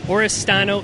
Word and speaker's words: Oristano: back to the early years of is it oristano Italy Oro did I pronounce it right yeah it's right dude time